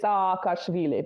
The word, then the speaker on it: Saakashvili: It's not Saakashvili, Saakashvili, or something like that. Well, I pronounce it in sort of the Russified way. Sorry, Georgians. I say Saakashvili because it's like that double.